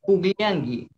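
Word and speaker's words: pukllanki: Kan pugliangi. Le escribo con la K. Pero lo pronuncio con la G.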